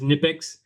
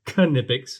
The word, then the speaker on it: Kipics: Uh I for the life of me always thought it was Nippics until I heard actually a person that works for the company and they said Kipics.